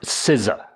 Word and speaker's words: SZA: That's how it's spelled, bro. Yeah, look it up. It's pronounced SZA.